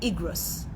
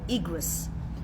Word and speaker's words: Igrot: Anybody has ever heard the word the Rebbe's Igrot or the Rebbe's Igrot? It's spelled in English I-G-R-O-T.